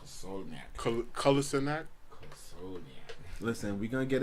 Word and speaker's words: Kolasinac: We had goals from Moses and Kosalniak. Did I pronounce that right? Kolasinac.